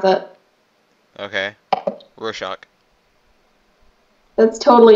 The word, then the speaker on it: Rorschach: I don't know how to pronounce it. Okay. Rorschach.